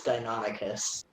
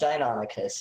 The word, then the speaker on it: Deinonychus: it's Deinonychus. Whatever. I'd like to multi-attack. Is it really pronounced Deinonychus? That's new to me. That's It very is cool. pronounced Deinonychus, yes.